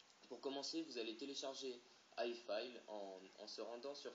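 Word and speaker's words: iFile: génial vous allez chercher i file i f i l voilà comme ça se prononce vous allez cliquer en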